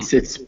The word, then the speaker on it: toward: So toward it's spelled with like it has two syllables, but it's actually just really one. Toward. toward a most useless place. Useless place. Okay. Place. Mm-hmm. And remember, it's toward. It rhymes with sword or gourd.